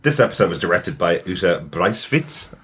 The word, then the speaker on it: Uta Briesewitz: This episode was directed by Uta Briesewitz, I believe would be the pronunciation.